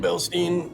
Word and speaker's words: Bilstein: Bilstein.